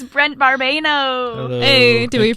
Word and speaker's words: Brent Barbano: It's Brent Barbano. Hello. Hey, did we you.